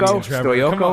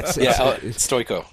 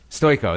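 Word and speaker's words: Stojko: I'm what a terrible name, Stoyoko or something? Yeah, Stoyko. Stoyko, there we go. Okay. I kept on pronouncing it incorrectly, and then my wife kept correcting me, so yes.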